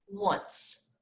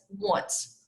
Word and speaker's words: once: once you have to remember to pronounce it as once as a w sound but when you write